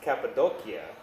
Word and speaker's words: Cappadocia: throughout your life number one Turkey Cappadocia it's pronounced cappadocia cappadocia is a living example of just how